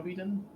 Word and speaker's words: Biden: Joe Biden.